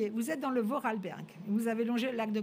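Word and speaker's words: Vorarlberg: D'abord il faut déjà apprendre à le prononcer. Voralberg.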